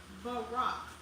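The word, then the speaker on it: ברך: In Hebrew, knee is pronounced barak.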